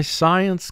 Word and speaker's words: science: SC is a team here because it's followed by I.